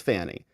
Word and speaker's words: Fani: her problem is here Fanny is her name okay it's spelled f a n i it's Fanny and she is the